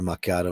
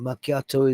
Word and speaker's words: macchiato: not a macchiato uh I didn't say it like that's not a macato I said oh no I asked for ma macchiato and she said oh that's a maiato I said no no no no macchiato is like a double